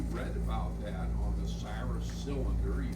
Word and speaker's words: Cyrus: So they translated it C Y R U S and then we pronounce it the way we like to pronounce those letters which is Cyrus but in his time he was called Kurush.